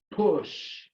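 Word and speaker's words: pushed: Push. I write the past tense with the ED, but the sound is only T.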